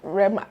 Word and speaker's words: Rema: Is it Rema or Rema? Rema.